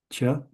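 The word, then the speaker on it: च: Cha. Cha is new. This is pronounced cha.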